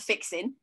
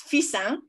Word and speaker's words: Fixin: I'm even going to have to practice how to say this because it's not fixing. It's Fissin.